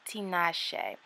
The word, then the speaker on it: Tinashe: I believe it's pronounced Tinashe kind of like the singer right so they sent